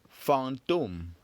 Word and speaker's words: fantôme: seen in the word fantôme. Fantôme. Fantôme. Fantôme. Very good. So how many syllables has fantôme got? That's right. Fantôme, of course, has got 2 syllables. Fang and dom.